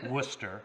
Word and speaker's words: Worcester: and you went to Worcester which was be which looks like War Chester we do it in